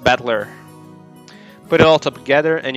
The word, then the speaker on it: Battler: far the problem is my own name that is made up of characters for fight and person and it's pronounced battler put it all together